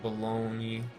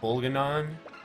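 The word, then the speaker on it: Bolganone: think he did man i'd like to have baloney i know it's pronounced like bulganon but when i was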